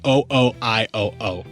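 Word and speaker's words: OOIOO: that i was saying said zero zero one one zero zero no i looked it up to make sure that i had the correct pronunciation matt i wanted to make sure so it is o-o-i-o-o all right man cool yeah that's how you say their name that's how you're supposed to and the song i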